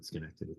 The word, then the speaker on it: Schenectady: Yes, Schenectady, that's right, yeah.